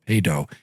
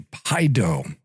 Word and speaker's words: paedo: That ae dip thong in the middle of pedo is really paido. It sort of ruins the Baptist parallel. They have krado which is correct and um in other words that's the correct pronunciation of kredo and then they like to rhyme that with pedo but uh really it's paid.